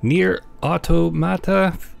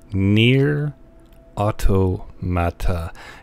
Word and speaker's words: NieR: Automata: of this game myself it's near automata look if you're ever in doubt as to how to pronounce something say it very slowly near Otto Matta it's the game with